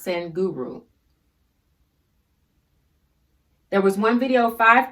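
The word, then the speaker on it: Sadhguru: name on youtube is send guru s-a-d-h-g-u-r-u s-a-d-h-g-u-r-u i believe it's pronounced sen guru there was one video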